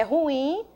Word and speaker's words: ruim: Sílaba tônica, as pessoas até pronunciam errado, né, esse vocábulo, prestar muita atenção. É ruim. Sílaba tônica da palavra é o in, é uma oxítona, e acompanhado aí, ó, o i de m.